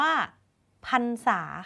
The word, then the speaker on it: พรรษา: คะ ถัด มา คำ ที่ 3 คำ ว่า พรรษา ค่ะ โยน ไป ทาง ไหน ดี หลัง ร หัน ไม่ มี ตัว สะกด เพราะ ว่า 2 ฤาษี ไป ผสม กับ